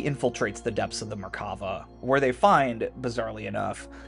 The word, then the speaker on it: Merkava: Merkava, sometimes pronounced Merkaba, is the Hebrew word for chariot, and was